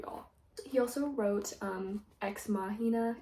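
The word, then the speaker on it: Ex Machina: He also wrote um exmahina, if that's how you say it. I used to say exmachina, which don't think that's right.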